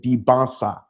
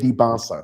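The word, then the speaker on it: Dybantsa: It's the SA. The T is before the SA. Debonsa, AJ Debansa.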